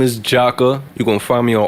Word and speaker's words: Jakkah: tune in for sure so my name is jocka you're gonna find me on all streaming platforms